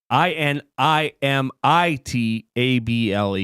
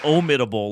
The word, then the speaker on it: inimitable: capable of being imitated so I mispronounced it well I thought I thought you said om itable like in IM yeah it's able so uncapable of being